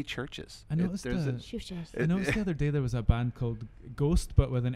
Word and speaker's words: CHVRCHES: strike me there's AV you used a V instead of a u that's not I thought people were telling me that they're mispronouncing it I'm like how can it be churches ghosts but with an